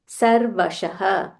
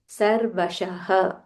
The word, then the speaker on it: सर्वशः: ानी च पावना च सर्वशः सर्वशः सर्वशः देयर इज़ अ विसर्ग हियर युधिष्ठिर युधिष्ठिर ध महाप्राण